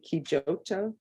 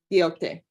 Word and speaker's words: Quixote: I want to say Kijoto or Joti, Quijote. And I look to my left. Quixote. There we go.